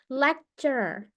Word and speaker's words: lecturer: ini ya dosen lecturer lecturer ini agak tricky bacanya R ketemu R ya lecturer lecturer So it's like r-nya bahasa Inggris itu tidak di tidak di seperti kita huruf r yang harus terdengar gitu ya lecturer lecturer nyangkut r-nya